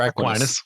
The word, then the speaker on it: Aquinas: Is it Aquinas or Aquinas?